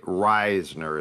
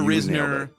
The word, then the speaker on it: Risner: here on the show I think it's Reisner you're right I I actually found the pronunciation when he came out of Kansas State Reisner is correct okay we've heard a Risner but it's Reisner free agent guard Dalton